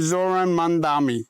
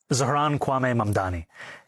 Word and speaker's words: Zohran Mamdani: I'm running against a man named Zoran Mandami. He's a socialist. If you can respond to that and tell us how you say it, your full name, Zaharanwaame Mdani.